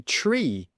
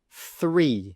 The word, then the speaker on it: three: Students often don't say the th sound, they'll just say the t. So they'll say tree, tree instead of three, three.